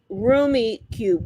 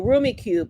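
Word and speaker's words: Rummikub: Oh, pronounced roomy cube. Roomie. Oh, Roomie cube.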